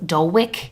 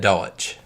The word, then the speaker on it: Dulwich: situation this man an unnamed man and Doe Dulwich England Dulwich always I'm sorry Dalek Dalek Dulwich